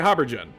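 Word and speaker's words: haubergeon: Pronunciation. Oh no, I was right. Habergen.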